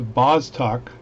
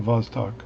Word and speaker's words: Vostok: says that it is the amphibian it's a bostock b-o-s-t-o-k and other folks online and tell me that in russian v and b are pronounced uh the same so b is pronounced v the vostok so it is a ab dorian good dude